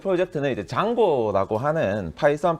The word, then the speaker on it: Django: 의 이름을 따서 지어졌습니다 그래서 이제 스펠링이 dj 에지오 인데 많은 분들이 어떻게 읽었지 헷갈려 하시더라구요 d 장 곤지 챙 본지 짱군 치 헷갈려 하시는데 그래서 영상이 있습니다 뭐